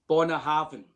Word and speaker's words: Bunnahabhain: BUNNAHABHAIN. BUNNAHABHAIN. Bo. It's not a bu. It's bo. It's not bu, it's BUNNAHABHAIN.